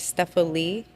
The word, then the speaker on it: Stephalie: study of words and my given name is stepal and it's spelled step Al li like quite literally and